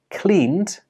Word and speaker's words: cleaned: Even though these words are spelt with an ed, they do not end with an id sound. Instead, they end with the d sound.